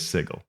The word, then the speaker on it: Sigil: and it explains that to mispronounce it is to give it a j sound and it's spelled SI j i l to make that point so that would say that it is sigle and then there's an